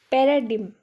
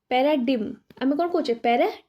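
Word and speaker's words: paradigm: Which letter is silent in the word paradim? Paradim, not paradim.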